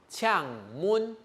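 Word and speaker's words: 請問: 類似這個發音哈，嗆悶。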